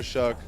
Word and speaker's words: Shough: If you don't know how to pronounce his name, just think fuck and then just add SH in front. So Tyler Shough.